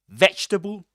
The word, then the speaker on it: vegetable: Vegetable comfortable. They actually rhyme if you think about it. The only difference being the first syllable ve and com. But then you you got the the the last two syllables are the same. Sabul sabul in both cases.